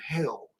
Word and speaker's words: Hel: would end up in hell. It's the real name for the underworld in the Norse mythology. It's not spelled the Christian way, but it's pronounced hell, H-E-L.